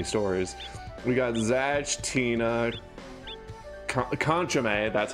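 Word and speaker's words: Kanchome: We got Zatch, Tina, Conchame. That's how you pronounce that.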